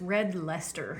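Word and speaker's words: Red Leicester: a pronunciation on that I believe it's red Lester we'll call it that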